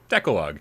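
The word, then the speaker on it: Decalogue: in wrong gamecat with $5 tip says it's pronounced decalog and it means the Ten Commandments it's where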